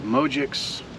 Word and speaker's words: Mogics: this guy right here this is called the mojix at least I believe that's how it's pronounced the mojix van life 2.